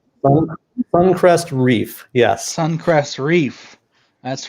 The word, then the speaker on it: SuncrestReefer: Sun, SuncrestReeef, yes.